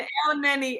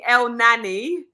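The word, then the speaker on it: Elneny: Have you noticed that he mispronounces everything? I know. Listen, he was calling a Milton Emily. He was calling El Neni El Nani.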